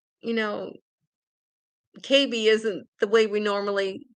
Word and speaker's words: Cabe: and the the doctor's last name was spelled C A B E so I thought oh his name is Cabe and he pronounced it KB and uh so I asked him where he